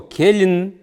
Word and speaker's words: келин: Тана Угу следующее слово Келин Кен Келин л мягко Келин Ну я думаю что